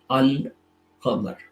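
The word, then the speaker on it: القمر: If you have a moon letter and you add Al before it, we'll pronounce both fully, Al-Qamar.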